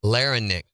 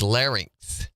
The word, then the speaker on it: larynx: how' you say it lenix is what I've always said lnx it's larynx larynx let me make sure